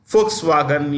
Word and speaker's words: Volkswagen: Volkswagen pronounced with a written with a V pronounced an F Volkswagen you have BMW they